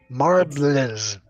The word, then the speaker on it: Marblism: It's It's marblism. Marblism.